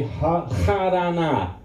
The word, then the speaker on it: Harana: And Haran should be Harana. Harana.